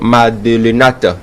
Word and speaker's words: Madelenat: Et juste à mon extrême gauche, c'est Marion Madelenat. J'ai bien prononcé. Madelena. Ok, donc on ne prononce pas le T.